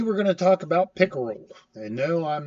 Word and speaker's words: PICKERL: Talking about the SANS instant response cycle or pickle preparation, identification, containment, eradication, recovery, and lessons learned. Yes, I know it's spelled different than the fish pick rule, but I say it the same way.